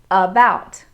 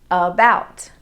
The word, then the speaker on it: about: syllables fu fee photography in the word about the a the vowel a forms a schwa sound about about in some words american